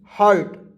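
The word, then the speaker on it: hurt: है दोस्तों घायल होना हार्ट नहीं होगा हर्ट होगा हर्ट मींस हो दोस्तों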